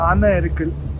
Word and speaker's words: Eravikulam: Please tell everyone what is the pronunciation. It's Eravikulam, okay, and it's basically situated at the border